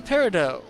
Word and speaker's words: peridot: now we got the peridot I know there's a tea on the end of it but the T is silent that's one of the